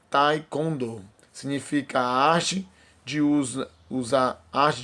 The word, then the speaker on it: Taekwondo: Cuja pronúncia em português é Taekwondo.